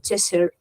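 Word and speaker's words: Cheshire: de que por cierto He aprendido que se pronuncia chesser que esto siempre es de chir de ches es chesser O sea que es una cosa así un poco intermedia estuve mirando con una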